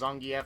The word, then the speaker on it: Zangief: And, yeah, by the way, if I flip-flop back and forth by pronouncing him as Zangief or Zangief, look, his name is supposed to be pronounced Zangief, but I can pronounce it both ways, so whatever.